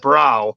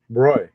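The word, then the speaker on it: bräu: a yeah a lot of people think that's pronounced brow but it's actually roy okay we're learning lots of things tonight roy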